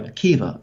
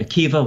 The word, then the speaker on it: Akiva: go back to Rabbi Akiva, very big name, obviously. I'm sure most people watching are familiar with Rabbi Akiva, once again spelled with a B-A at the end, but pronounced with a V.